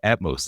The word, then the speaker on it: Atmos: And they're like, "No, Atmos like atmosphere."